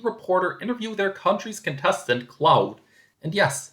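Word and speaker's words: Claude: interview their country's contestant, Cloud. And yes, that's how his name is pronounced in Dutch.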